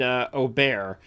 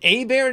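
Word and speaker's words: Åberg: I think he wants Oberg. Oh, he wants Oberg. I think Oberg is.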